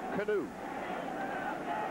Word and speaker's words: Kanoo: It is pronounced Kanoo. First and 10 at the 23.